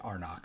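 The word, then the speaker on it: Arnak: versus lost ruins of arnach arnach our neck there is no right way to pronounce it yeah I saw the designers pronounced in arnock so I think that's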